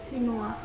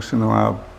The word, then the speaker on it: Senuab: Sinua. You don't pronounce the B. Senuab. No, they don't. This is old maps. Oh. Sometimes you see Kampung Senuab Baru, which means new.